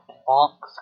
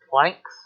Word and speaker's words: Planck: is energy and joules this is funk's constant also pronounced plancks depending on whether or not you pronounce it as german are the english equivalent and its value is